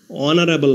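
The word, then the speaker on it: honourable: এস এর উচ্চারণ অন উচ্চারিত থাকায় এবং ভাওয়েলের উচ্চারণ প্রথমে হওয়ায় আর্টিকেল এ না বসে এন বসেছে হি ইজ অ্যান অনারেবল ম্যান অনারেবল অর্থ মর্যাদাবান এখানে অনারেবল এর প্রথমে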